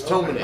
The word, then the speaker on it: Tomine: It's Tomine.